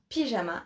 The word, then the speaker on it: pyjama: Yes, again, it is the English word pyjama, just with the French pronunciation, right? Makes sense. Donc, un pyjama.